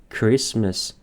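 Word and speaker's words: Christmas: برای کرسمس برای کریسمس این تیش تلفظ نمیشه کرسمس کرسمس کرس بریم سراغ واژه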